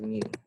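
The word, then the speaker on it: μ: that we call mu we pronounce it as mu like mu okay and um it's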